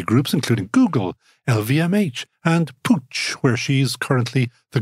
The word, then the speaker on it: Puig: I don't think so Pooch I had never heard it's spelled p UI G for anybody who wants to look it up it's a fascinating